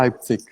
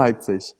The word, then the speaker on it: Leipzig: Então tem gente que fala Leipzig, e eu falo Leipzig.